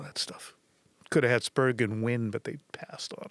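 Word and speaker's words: Spergon: Could have had Spurgeon win, but they passed on him. All right. Is it a hard G in Spurgeon? No.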